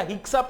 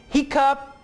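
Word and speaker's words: hiccup: अब इसे आपने सॉक्सर नहीं कहना या हिक्सअप नहीं कहना, ये एक्सेप्शंस हैं। एक्सेप्शन से मुराद है जहां पे रूल अप्लाई नहीं होता। रूल क्या है? डबल सी की आवाज के एस की होगी। एक्सेप्शन क्या है? दो वर्ड्स ऐसे हैं जहां पे डबल सी आपको के एस की आवाज नहीं देगा बल्कि सिर्फ के की आवाज देगा।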